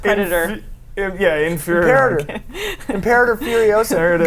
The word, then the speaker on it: Imperator: It's pronounced Predator. Inferior. Imperator.